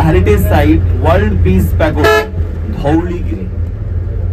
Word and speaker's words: Dhauligiri: After Konark, only 65 kilometers from Konarko, the heritage site World Peace Pagoda, Dhauligiri. Kindly remember Dhauligiri, not Dhavaligiri.